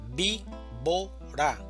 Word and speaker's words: víbora: Víbora, división silábica. Víbora. Sílaba tónica. Vi. Víbora.